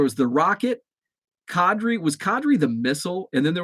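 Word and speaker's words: Qadry: rocket's name wrong but i think a lot of people called him quadri ishmael and i probably called him quadri ishmael early on but then then i think somebody said oh it's kadri qadri ishmael um in cadre if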